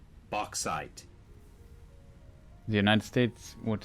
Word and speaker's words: bauxite: __ ] bulk side Oak Side that's the pronunciation bauxite the United States would say box side box side okay oh just close the Cambridge